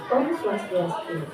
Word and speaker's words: Om Swastiastu: Ya, pengucapannya Om Swastiastu. Coba ulangi, Om Swastiastu.